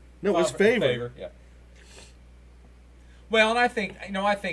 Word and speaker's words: Favre: Remember the Brett Favre incident? Yeah, Favre. No, it was Favre.